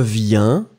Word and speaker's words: viens: Je viens, with the S, tu viens, with the S, il, elle, vient, with the T. So remember, final S won't be pronounced and final T won't be pronounced.